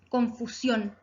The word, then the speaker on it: confusión: Confusión. Palabra aguda, porque se acentúa en la última sílaba.